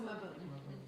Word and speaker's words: Mabon: or Mabon or whatever, how do you pronounce it? It's either Mabon or Maboon. Mabon? Mabon or Maboon. The Celtic pronunciation is Maboon.